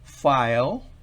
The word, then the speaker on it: file: se pronuncia por ejemplo file file aquí estamos insistiendo no sobre la hay después de f sino sobre la que al final si va al final es muda file no se escucha para nada esa el final y esa